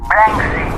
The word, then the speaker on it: Banksy: Banksy, hantunya dunia seni.